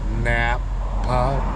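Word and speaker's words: Nampa: I I'm phonetically saying it. Napa.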